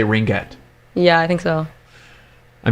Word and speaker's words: ringette: A ringette. Ringette tournament. You say ringette, and you pronounce the G. Is that the right way to say it?